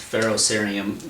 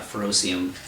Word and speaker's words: ferrocerium: By the way, it is pronounced ferrocerium, not ferrocium.